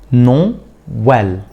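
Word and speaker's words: Noël: قال لي تاتي مع حرف الاي والا اذا وجدت لابد ان ننطق هذا الحرف بشكل منفصل عن الحرف المتحرك الذي يسبقه يعني ايه الكلام ده؟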